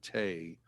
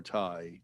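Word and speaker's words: Thầy: if i also use the term tay or tai teacher sometimes when i talk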